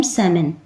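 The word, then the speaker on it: salmon: तो रेड के आपके शेड देखो, ये है रस्टी रेड, सैलमन, जैसे इसमें जो एल होता है वो साइलेंट होता है, इसे रीड नहीं किया जाता, इसे पढ़ते हैं हम सैमन।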